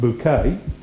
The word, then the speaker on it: Bucket: of the aspirational hin bucket pronounced bouquet and he's my hero